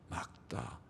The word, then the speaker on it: 맑다: 맑다. 마에다 리을 기억 받침이 다 하면 맑다 발음합니다.